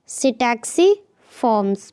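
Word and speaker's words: Psittaciformes: सही ऑप्शन है बी सिटैक्सी फॉर्म्स, पी जो होता है साइलेंट।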